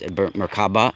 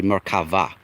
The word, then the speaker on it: Merkava: Now, I believe and this is where the Merkava, I know you guys like to say it with a B, the Merkava, it's Merkaba, it's actually Merkava.